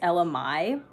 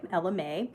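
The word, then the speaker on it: Ella Mai: artist was LMA and I didn't even know that's how you pronounce her name for the longest time I thought it was Ella my so I guess I learned something new that day Ella Mae and I didn't know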